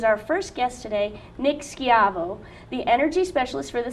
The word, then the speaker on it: Schiavo: us explore is our first guest today Nick skavo the energy specialist for the City of Santa